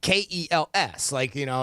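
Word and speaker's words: Kelce: Yeah, you put just C like Kels, and that's it. You end you end it with the sound of an S.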